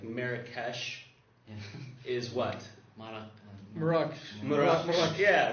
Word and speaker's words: Marrakesh: And it's always interesting to me, too, the way towns or cities and stuff like that are pronounced. Like Marrakesh is what? Marrakesh.